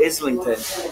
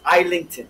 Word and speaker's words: Islington: islington people call it islington they mispronounce it it's islington just like it's island okay not islington light